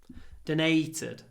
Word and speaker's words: donated: 95 she donated $1,000 donated just be careful with the pronunciation Don not donate donate Nate we get a little pause before the unvoiced T donated she donated $1,000